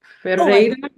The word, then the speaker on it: Ferreira: She will pronounce her last name for us because I'm not rolling my R's right.